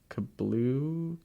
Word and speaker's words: Kabru: Kablu? Brew? Yeah. Kabru, yeah.